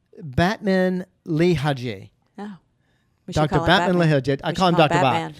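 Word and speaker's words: Batmanghelidj: That's prolonged dehydration causing that damage, which actually and I had to write down how to pronounce his name. Oh. It's Batman Lehaji.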